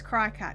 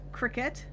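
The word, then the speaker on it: Cricut: camp with us lisa if it was to be pronounced cricket then it would have a k in it kim scott snyder's like like jiminy yes exactly like jiminy cricket it's cry-ca it's spelled cri c-u-t cracker but they're mascot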